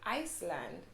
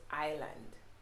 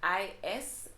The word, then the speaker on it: island: i think it's just because of the whole silent s thing so most persons tend to say iceland when it's actually pronounced island right of course there